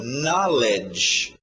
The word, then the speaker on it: knowledge: Por falar em know, olha aí, uma junção de know, saber ou conhecer, com um sufixo, na, a pronúncia fica um pouco estranho, knowledge.